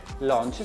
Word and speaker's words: Launch: Andrea, ma da queste Brooks Launch si pronuncia proprio così, anche se da quanto ho capito il dottor Soffientini preferisce farla all'italiana.